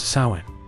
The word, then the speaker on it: Samhain: The transition between these two halves was marked by a festival called Samhain, pronounced Samhain.